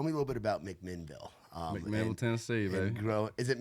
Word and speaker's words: McMinnville: Do you say it like Louisville, where it's like McMinnville, or how do you? I say McMinnville. My mom says McMinnville. So McMinnville. Okay, there's a little A in there. I think a lot of locals say McMinnville, but it's McMinnville.